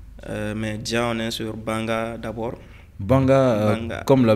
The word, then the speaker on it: Banga: comme ça parce que quand tu tu vas mettre e r on VAC Banger comme le disent les Ivoiriens donc la famille LEP c'est pas Banger c'est banga banga B a N G